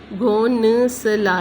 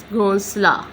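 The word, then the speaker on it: گھونسلا: यहाँ पे घोंसला में नून जो है वो साइलेंट होगा, वाव के बाद आ रहा है, तो ये जो नून है उसकी आवाज़ घोंसला नहीं पढ़ा जाएगा, घो आगे ला आला, घोंसला, इस तरह इसको पढ़ा जाएगा।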